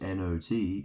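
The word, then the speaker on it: knot: You have the word not, which is N-O-T, and you have the word which is K-N-O-T, which is also not, where the K is silent.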